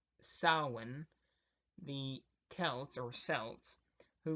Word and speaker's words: Samhain: The origins of Halloween date back to the ancient Celtic festival of Samhain, or pronounced Samhain, the Celts, or Celts, who lived 2,000 years